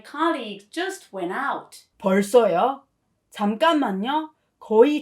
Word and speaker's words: 잠깐만요: By the way, please note that it is pronounced 잠깐만요 with nium pronunciation, not 잠깐만요.